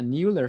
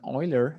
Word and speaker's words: Euler: run what's called a new air filter or i guess if you're german euler that would be probably the pronunciation i don't know just